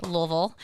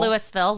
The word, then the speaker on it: Louisville: Louisville, not Lewisville.